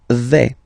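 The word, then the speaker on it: vais: The first form is V. Okay. So remember final S not pronounced here V.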